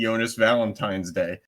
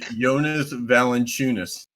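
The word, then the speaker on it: Valančiūnas: Yeah, Jonas, you and Charles Barkley, because Charles Barkley just calls him basically Jonas Valentine's Day. His name is Jonas Valanciunas.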